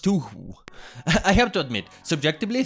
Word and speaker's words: Touhou: It's not pronounced Toe-2, it's pronounced Toohoo.